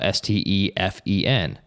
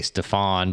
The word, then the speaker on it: Stefen: And so we said, what if we just spell Stefen? Because it's hard to mispronounce that. Yep. Some people might say Stefan, but there's no A in there.